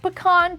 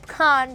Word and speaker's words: pecan: National Chocolate Pecan Pie Day, and yes, I said pecan because that's the correct way to say it, pecan.